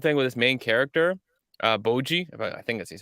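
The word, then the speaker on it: Bojji: the number one thing with this main character, Boji, I think that's how you say it, right? It's Boji, yeah.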